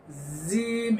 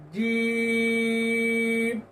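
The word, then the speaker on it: ج: উপরের তালুর সঙ্গে লাগিয়ে উপরের দাঁত নিচের দাঁত যেন লেগে না যায় জিম এরকম যেন না হয় তাহলে অন্য একটি হরফের উচ্চারণ হয়ে যাবে জিম যাদের উপরের দাঁত নিচের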